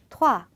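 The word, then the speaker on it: trois: 그리고 이제 숫자 3은 토아. 자, 여기서도 에그 발음을 막 토아 이렇게 토할 것 같이 하실 필요는 없어요. 그냥 살짝만 토아라고 건드려 주시기만 하면 됩니다.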